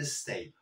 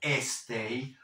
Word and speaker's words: stay: y Qué quiere decir Stay pues lo primero que no quiere decir es estar Stay Fíjate cómo lo pronuncio No digo estay no pongo una e fantasma no Stay quiere decir